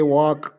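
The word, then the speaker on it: walk: ಕೆ ಬಟ್ it pronouns knife ಡಬ್ಲ್ಎ ಎಲ್ ಕೆ ವಾಕ್ ಸೋ ಈ ಎಲ್ಲ ಉಚ್ಚಾರಣೆಗಳ ಬಗ್ಗೆ ನಾವು ತಿಳ್ಕೊಬೇಕಾದರೆ ನಾವು ಬೇಸಿಕ್ ಆಗಿ ಈ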